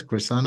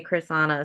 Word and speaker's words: Krisanna: you Chris yes Chris Chriss yeah Chrissa yeah a lot of people can't say Chriss an so they just say I just tell them Chris it's easier Chris is here yeah one syllable right yeah exactly yeah